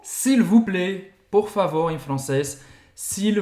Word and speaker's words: plaît: plaît. S'il vous plaît. S'il vous plaît. Et c'est AI, com acento circunflexo. Plaît é a mesma pronúncia. Plaît. S'il vous plaît. Você não vai pronunciar o T no final.